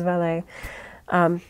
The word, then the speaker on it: valet: You can say it either the British way, which is valet, or the more French way, which is valet.